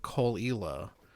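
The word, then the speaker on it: Caol: is this one called Cole. I I I can't remember how to spell it, but um I think the first word is C A O L. It's probably not spelled anything like it's pronounced.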